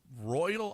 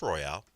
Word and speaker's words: Royale: Is he Royal Ivy or Royale Ivy? It's Royale.